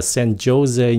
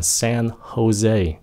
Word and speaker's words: San Jose: Không phải là San Jose nha, San Jose.